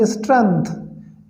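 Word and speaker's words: strength: Physical स्ट्रेंथ, दोस्तों इसमें जी silent है और इसको पढ़ेंगे हम स्ट्रेंथ।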